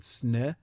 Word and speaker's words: Snö: Wouldn't you call it snö? Yeah. It's pronounced snö, but snow is... Yeah, it's snow.